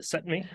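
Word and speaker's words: SETMI: How do you say that? Yeah, we just call it SETME. SETME model. Okay, yep.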